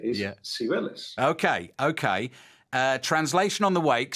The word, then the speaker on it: Cibeles: Yes, with an Andalusian accent. So Cibeles. A Castilian would tell you Cibeles, but the way that he would say it is Cibeles.